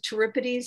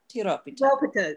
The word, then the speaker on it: Tiropita: And I have to tell you, Ed, I just suddenly realized how the Turipides, you pronounce it Turipides, or how would you pronounce what he said? The T-Y-R-O-P-I-D-O-P-I-T-A. Tiropita.